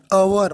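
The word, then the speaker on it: hour: लेकिन दूसरा जो वर्ड है एन अवर, यहाँ पर ये जो एच है ये वॉवेल नहीं है, ये क्या है, ये है कंसोनेंट, यानी कि व्यंजन है। लेकिन इस वर्ड का उच्चारण आप देखेंगे तो हम क्या करते हैं, एन अवर, मतलब हिंदी के वॉवेल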